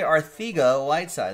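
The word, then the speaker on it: Arcega-Whiteside: pregame show he looked pretty pretty good JJ Aarthi go light side that's how he pronounces it JJ I think a white side going to the Eagles Evan Levine with the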